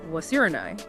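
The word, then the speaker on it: 忘れない: But when Vaundy actually sings the line aloud, he pronounces it wasurenai, which means unforgettable.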